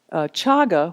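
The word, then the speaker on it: cāga: more familiar to you chaga which is spelled CA GA means not holding on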